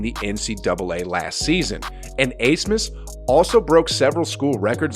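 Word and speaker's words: Abmas: four max a smith i initially thought that it was pronounced atmos but after doing some research google told me that it was actually pronounced as max asmus though i may have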